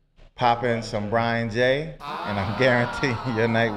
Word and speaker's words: Jai: But if you go to my website, Brian J Music, Brian J, the J is spelled J-A-I.